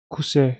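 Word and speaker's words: 癖: Kuse, şu kanji yanlış. Şöyle kuse diye okunuyor.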